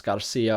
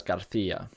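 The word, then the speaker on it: García: part of that and pretty much all varieties of Latin American Spanish pronounce C's and Zeds with a s sound and so you think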